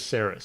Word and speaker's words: Saris: She refers to herself as Saris, so that's what I went with.